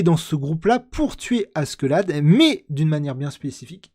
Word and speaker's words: Askeladd: Oh putain, j'arriverai jamais à le prononcer. Askeladd, voilà, Askeladd.